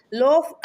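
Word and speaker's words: l'œuf: ஸோ ஃப்ரெஞ்சில் பார்த்தீங்கன்னா அந்த எக்கை வந்து லோஃப் அப்படின்னு சொல்லுவாங்க. ஓகேங்களா? லோஃப் அப்படின்னா எக்கு. ஸோ இது வந்து மிஸ்ப்ரொனவுன்ஸ் ஆகி லோஃப்ன்றது லவ்வாக வந்து அந்த ப்ரொனவுன்சேஷன் மாறி இருக்குது.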